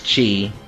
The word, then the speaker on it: Chi: basically you oh it's it's pronounced like key or Kai depending on how you say whatever yeah basically you're